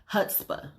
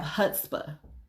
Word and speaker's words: chutzpah: There's something that's called chutzpah. Okay? It's spelled CHUTZPHA.